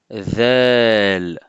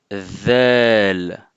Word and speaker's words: ذال: Donc si je suis en face de vous, je peux voir votre bout de langue lors de la prononciation de cette lettre. Donc alors dites après moi, ذال, ذال.